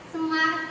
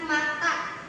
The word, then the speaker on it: smart: Terus sudah habis itu oh dia seller iya ini ya smart itu bukan smarta oh cara pengejaannya S